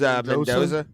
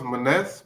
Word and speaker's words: Maness: was that man versus menza oh yeah yeah isn't it pronounced Maness but yeah I saw yeah Maness yeah you're right yeah we don't you